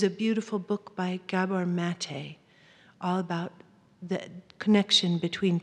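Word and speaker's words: Maté: His last name is spelled M-A-T-E with a little accent aigu on it.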